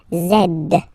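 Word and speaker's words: zède: zed zed okay so remember to pronounce this D at the end zed zed okay so let's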